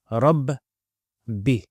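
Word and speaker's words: رَبِّ: So we have a Fatha, the Ra, Sukun de Kasra. So Rabb, Bi, Rabb, Bi. Ra joins with the Ba, Rabb, and Bi.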